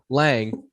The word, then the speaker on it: Lang: Lang as rhymes with dang.